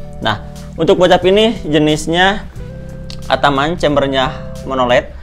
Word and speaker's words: Ataman: Nah, untuk bocap ini jenisnya Ataman, chambernya monoled. Ada juga orang yang bilang Atamen, tapi ya bebas lah, itu yang penting enak pengucapan.